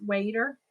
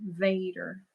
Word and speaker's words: Vader: not saying it right Darth waiter but it's it's Vader right because isn't it spelled v like a v a d r though Darth Vader okay yeah Bonnie so it